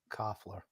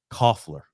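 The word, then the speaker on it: Kuefler: How do you pronounce that? Dalen? What is that? Coughler. Coughler.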